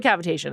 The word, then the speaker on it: cavitation: cavitation as in a cavity.